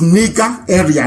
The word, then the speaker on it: Nigeria: a bit uh okay the proper name is nika area nigeria if you go